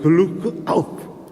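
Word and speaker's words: Glück auf: 이게 글루크 아우프. 여러분 많이 아시는 거 아니에요? 맞나요? 발음이 글루크 아우프.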